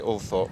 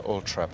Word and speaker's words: Althorp: Well, I don't want to be sitting on the fence about this, but both are correct. My father used to say Althorp, my grandfather Althorp, and it's because a